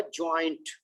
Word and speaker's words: joint: और जो 5 वाला है वो है जॉइंट। उसमें जो जैसे बॉय है ना, वो उसमें का उसके सिंबल्स देखे ना, तो वो बॉय के हिसाब से सिंबल बनाया, तो जॉइंट, बट ये जायंट, जायंट, जॉइंट।